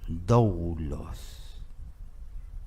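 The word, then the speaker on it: δοῦλος: La palabra siervo en griego se pronuncia doulos, que significa esclavo.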